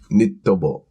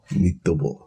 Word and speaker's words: ニット帽: Nittobo. So knitted, nitto. Okay. And then 帽 is like taken from 帽子. Boshi. So ニット帽. Nittobo.